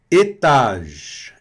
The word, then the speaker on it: étage: Aqui o E também não vai ser pronunciado no final. E o E no início com acento agudo. E. E. Não é E. Não é E. É E. E fechado.